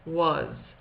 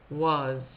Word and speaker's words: was: thing to remember is when a w comes near an a it often makes it say a slightly different sound so the the W